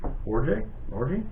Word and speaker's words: Orji: Michigan quarterback Alex, and I think it's pronounced Orji. Yes. Orji? Alex Orji.